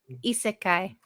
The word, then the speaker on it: Isekai: Isekai.